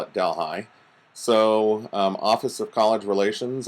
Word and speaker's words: Delhi: and I know the city in India is pronounced Delhi but believe it or not in upstate New York the same spelling and they call it Delhi so office of college relations and advancement and